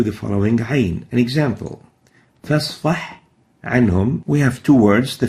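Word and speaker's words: فاصفح عنهم: We should pronounce it clearly. فَاصْفَحْ عَنْهُمْ. A ha should be clear and should not be merged into the Ain.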